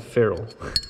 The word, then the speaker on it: ferrule: this piece is called it ferrule and it's spelled fer are you le for rule like John rules like lesser-known brother it's